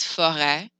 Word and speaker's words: forêt: If you have an E with a circumflex, it sounds more like an eh. So a forest is forêt. It happens on other letters like A, I, O, U.